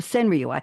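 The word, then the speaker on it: senryū: about people and emotions it becomes a sinu s n r yuu five syllables seven syllables five syllables the same exact number of syllables and count as a haiku but it's called a senrii there're 126 formats of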